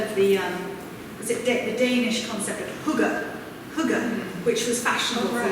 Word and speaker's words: hygge: I thought it was hygge. Hygge, is that how you say it? Hygge.